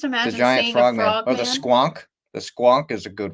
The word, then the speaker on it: squonk: funny look up the squonk is that how you pronounce it yeah s q n k squonk okay that's such a